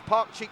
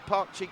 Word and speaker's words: Pakcik: to thank Mohammed classic he said it right it's Park cheek Park cheek legend I'm getting it right